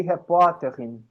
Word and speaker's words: Reporterin: É muito difícil tirar essa sílaba tônica do final, meu Deus. Difícil, né? Die Reporterin.